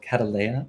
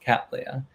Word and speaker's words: Cattleya: this kind of orchid cat leia was called cataleya and so i just i've been calling the project catalaya but in fact it's supposed to be pronounced cattleya so whatever you prefer that's fine with me